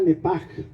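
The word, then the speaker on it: נפש: Alma en el hebreo se pronuncia nepech, se pronuncia nepaj. La C y la H en hebreo se pronuncia como J, nepech, murió.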